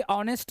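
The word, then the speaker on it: honest: एच अब एच तो है लेकिन एच से इसका उच्चारण ह नहीं हो रहा है। अ आ रहा है। ऑनेस्ट इसको क्या पढ़ते हैं? ऐसे ना ऑनेस्ट।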